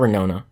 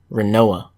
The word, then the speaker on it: Renoa: Sorry, not Renona. Renoa. That's how you say it.